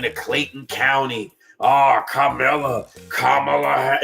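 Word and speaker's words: Kamala: Kamla. He can't even say her name right. Her name is Kamla. Get it right, bro.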